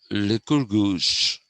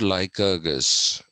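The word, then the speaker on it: Lycurgus: quite possible that uh likurgus did influence plato it's not out of the realm of the possible or the probable okay he is not like argus which is what our good american friends say anyway so now the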